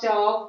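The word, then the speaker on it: chalk: जबकि एल यहाँ पर है लेकिन हम उसका उच्चारण नहीं कर रहे हैं. हाफ, चॉक, कॉफ, आलमंड, बाम, फॉक, बक, सब में एल को हम साइलेंट रखेंगे.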